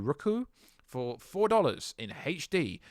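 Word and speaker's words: Roku: the service called rook i don't know you pronounce it r o k u rooku for four dollars in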